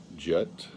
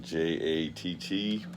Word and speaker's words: Jatt: And it spells out J-A-T-T, but I believe that's pronounced Jatt.